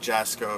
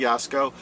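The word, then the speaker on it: Jaczko: chair uh gregory yasko i think i said jasco a few weeks back i now believe that's not how you pronounce it i apologize gregory yasko uh wants uh to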